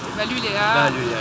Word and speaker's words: Valulea: Valuléa, exactement. comme ça se prononce.